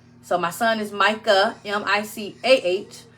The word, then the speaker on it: Micah: son is Micah m-i-c-a-h a lot of people say Michael if you say his name incorrectly it's fine my own Mama did it for his first couple years of life so it's fine um but it's Micah like in the Bible m-i-c-a-h and Michelle and my